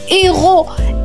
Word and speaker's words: héros: H comme héros. H on ne prononce pas le H vient directement le e.